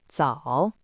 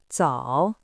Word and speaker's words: 早: It is pronounced in the third tone. Repeat after me. 早早早 Let's unlock 10 useful words from this character.